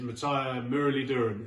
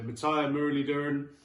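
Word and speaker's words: Muttiah Muralitharan: So Broad and Anderson are my 9 and 10, and bringing up the rear is Matthias Muralidharan, and it is pronounced like that because I did a documentary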